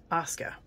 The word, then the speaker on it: Asuka: can use all of this oscar that's how you pronounce it for sure so these are a